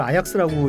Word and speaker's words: Ajax: AJAX. 예, 그걸 아약스라고 읽는데 제가 그 한번 로테르담이라고 네덜란드에서 1시간이면 가는 두 번째 도시.